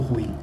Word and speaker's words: ruim: E falando no bom, na expectativa, vamos falar do ruim. Ainda bem que essa pronúncia foi correta. Ruim, hein, gente? Pelo amor de Deus, não é ruim. Ruim, muito bem.